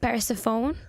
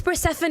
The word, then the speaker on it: Persephone: Mafia Underworld the goddess I don't know how to pronounce I think it's Persephone yeah that's it I remember now Stephanie I was pronouncing it weird sorry guys daughter and